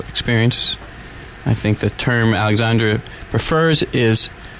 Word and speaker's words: Alexandre: And it's pronounced Alexandre. It's Alexandre.